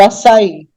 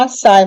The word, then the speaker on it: açaí: questão do Açaí porque muitos falam açai mas não é açai é Açaí tem o assento Agudo lá que às vezes não parece muito o assento Agudo mas é quando a gente olha direito né raízes mesma coisa três